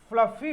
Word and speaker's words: fluffy: ध्यान दीजिए कई बार लोग फ्लपी कहते हैं, फ्लपी बोलते हैं, और इसी चक्कर में स्पेलिंग गलत भी करते हैं। वर्ड आपका क्या है, FLUFFY, फ्लफी, इसका प्रोनाउंसिएशन भी सही करना चाहिए।